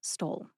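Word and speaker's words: Stoll: S T O L L Stole. Number six is Roar Studio Productions. Roar is spelled R O A ROAR.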